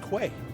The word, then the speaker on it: quay: You know, for the longest time, I thought it was pronounced quay.